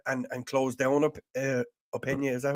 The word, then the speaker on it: Openda: should have went and and closed down up opinia is that how you pronounce his openda yeah and and openda sorry and and then